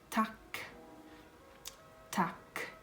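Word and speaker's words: tack: has the same meaning in Swedish so it's tuk tuk that's how you say it and thank you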